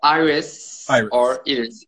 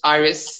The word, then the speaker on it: İris: name properly sorry uh iris is in turkish iris in english pronunciation okay you can't tell